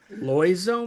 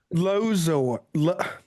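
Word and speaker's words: Loizzo: Am I going to pronounce that right? Loizo, maybe? Lozo. Loizo? That L sounds right. O I Z Z O.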